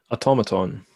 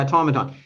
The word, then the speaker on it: automaton: Anon Aton automaton how how do you pronounce that word automaton yeah automaton he said he felt like Grandpa's creature a windup doll an an Aon auton fuckon I think automaton uh just going through